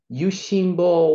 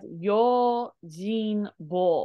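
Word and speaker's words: 用心棒: Yushinbo wa kaidan wo orita. Hai. So this is actually pronounced as Yojinbo, but you're super close.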